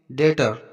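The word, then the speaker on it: debtor: देखो टी से पहले बी आया तो बी साइलेंट रहेगा नेक्स्ट एग्जांपल देखते हैं डेटर यहां पर देखो टी से पहले बी आया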